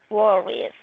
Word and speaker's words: worries: Entonces, her father Often worries. Se le agregaría IES y se quitaría la Y. muy bien. Y lo pronunciamos worries. Worries. Como si no estuviera la E.